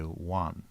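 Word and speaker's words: ワン: day for dogs because dogs in Japanese say one like w-a-n is how a dog barks instead of you know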